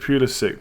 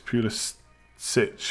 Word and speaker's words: Pulisic: He pronounces it Pulisic, but because he's American, he completely ignores his Croatian heritage. It's Pulisic for those who want to pronounce it correctly.